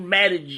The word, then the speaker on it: Mattie: My name was Mattie. Mattie. With MATTIE. second T is silent.